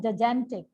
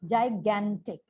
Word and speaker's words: gigantic: Then the word was, आपने बोला gigantic. It's gigantic. First j, then g pronunciation.